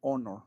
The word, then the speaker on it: honor: Copiar este igual la misma reglita este que les dije ahorita la H es muda, empieza con O. Aquí sería an honor, un honor, un honor conocerte.